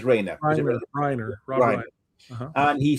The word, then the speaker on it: Reiner: Pronounces Reiner.